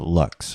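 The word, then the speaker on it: LVX: x and pronounce the lux what the u sounding like in tube looks in rituals we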